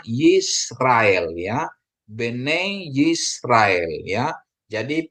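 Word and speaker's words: יִשְׂרָאֵל: dikasih dia Sere dia jadi e ya jadi bacanya yisrael Ya Bene yisrael ya jadi putra-putra atau anak-anak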